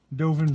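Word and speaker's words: Dovin: and it's a planeswalker a good old dovan dovan band that's how you say it bam dovan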